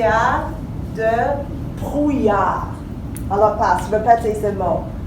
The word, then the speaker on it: brouillard: Brouillard. C'est long, c'est difficile. Brouillard, très bien. Alors aujourd'hui, il y a de brouillard. Alors passe, répétez ce mot. Brouillard.